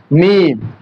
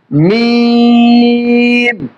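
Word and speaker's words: ميم: এরপরে দেখেন মিম। এই হরফের নাম হচ্ছে মিম। উচ্চারণ দিয়ে খেয়াল করবেন, মিম। সম্মানিত শ্রোতাবৃন্দ, এই হরফের মাখরাজ হচ্ছে 2 ঠোঁটের শুকনা অংশ থেকে, 2 ঠোঁটের শুকনা অংশ থেকে, মিম।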